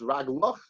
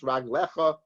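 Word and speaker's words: רגליך: Even though it's read without the yud as raglach, it's written raglach, but no, it's pronounced raglecha, which means feet.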